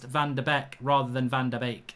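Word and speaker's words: van de Beek: der beck rather than van der beek it's bake it's bake it's van der beek it's like a bake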